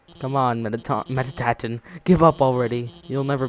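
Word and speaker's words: Mettaton: with metaton presence mettin it's it's pronounced mettin yellow yellow I need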